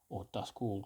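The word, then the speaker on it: Doskvol: setting the city of dusk or dusk wall depending on how you want to pronounce it um and some of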